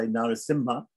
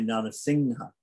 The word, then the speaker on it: Narasimha: a lot of times that sometimes people say narasimha sometimes people say nana singha right so is it is it simha or singha right so there are this is an amishwara which is being pronounced in two different ways by some people it's pronounced one way and some people have pronounced another way don't worry about it too much right it can be pronounced in both those ways right so for example